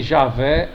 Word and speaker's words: Javé: a maioria dos hebraístas seja a favor de Javé ou Iavé, que é I-A-H-W-E-H.